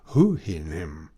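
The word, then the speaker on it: Houyhnhnm: Then the bay tried me with a second word, much harder to be pronounced, but reducing it to the English orthography may be spelt thus, Hoo-hin-him.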